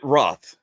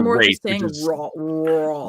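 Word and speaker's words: Wrarth: They pronounced it Roth. Roth. As opposed to Rafe.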